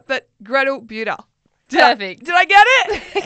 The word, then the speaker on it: Bueta: Bueta. Yes. Yes. What ones have you had? What pronunciations? Oh, I think, Bueta is pretty popular, or Bueta, or Bueta, or anything goes really, honestly.